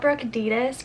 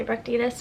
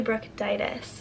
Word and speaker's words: Brooke Titus: you pronounce my name it's not Brooke adidas which I don't care if you say Brooke Davis but it's actually Brooke Titus on the facts so